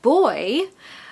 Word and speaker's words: buoy: And boy, which is pronounced as the same as girl or boy,